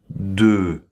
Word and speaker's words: des: Et on ne prononce pas le S final, d'accord?